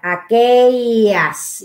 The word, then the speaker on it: aquellas: Kaya, aquellas, yung double L is ye, aquellas.